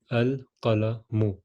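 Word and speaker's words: القلم: how do you say the pen it is al color mu meaning the pen so again the same example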